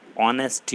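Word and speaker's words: honesty: जब हम इसका उच्चारण करते हैं या इसको पढ़ते हैं तो इसको पढ़ते हैं एच साइलेंट हो जाता है, ऑनेस्टी होता है, तो ऑनेस्टी के लिए आता है एन ऑनेस्टी।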